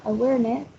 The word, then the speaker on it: awareness: Then we have awareness. It has 4 syllables and the prominence is in the second one.